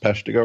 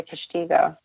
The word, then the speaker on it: Peshtigo: I think I pronounced Peshtigo right. You did. You're rarely is it pronounced right. Most people say Peshtigo.